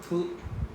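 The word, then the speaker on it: ふ: Hu. Hu. Right? Hu is just 1, 2. Very easy. Right? This is pronounced as hu.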